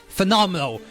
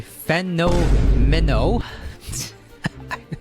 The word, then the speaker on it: Fenomeno: Okay, so next we're gonna talk about Phenomenal. Well, that's how I pronounce his name. His name is actually Fenomeno.